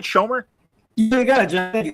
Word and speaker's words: Schomer: Am I saying it right, Schomer?